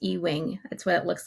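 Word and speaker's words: Ewing: this guy Ben um I think it's pronounced e-wing that's what it looks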